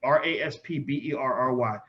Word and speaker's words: Raspberry: Brian, Raspberry is spelled Raspberry, not RAS. It's Raspberry.